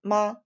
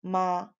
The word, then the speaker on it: 妈: Next character is ma.